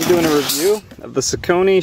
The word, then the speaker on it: Saucony: a review of the Sone showdowns or sakon some people pronounce it and I just